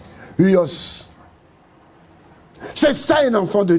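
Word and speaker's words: υἱός: En grec, ça s'écrit H U I o S. Uos.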